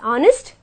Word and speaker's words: honest: Okay, there are exceptions like honest and are, where an H becomes silent and we pronounce it as honest and are.